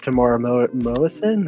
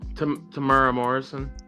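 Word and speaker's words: Temuera Morrison: Um be really cool if they got to Tamara Moison. Is that how you say his name? Uh to play Rex as well. Oh. Uh Tamura Morrison.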